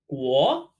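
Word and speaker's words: 国: This character means country or kingdom, pronounced guo, ge, wo, guo, wo, guo, kingdom.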